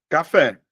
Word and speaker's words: café: Se você olhar, ó, café, a sílaba mais forte, ó, um, dois, a sílaba mais forte está em dois.